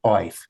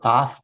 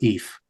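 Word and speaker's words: אויף: after the Chernovitz conference, they decided that this particular word should be spelled as if it were pronounced oif, although it was in fact in all the dialects quite rare to actually have oif. And then people started pronouncing it oif because that's how it was spelled. But in fact, in all the dialects, it's either af or if as a preposition, and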